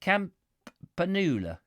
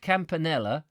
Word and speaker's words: Campanula: um did we fight camp panula not campanella well how are you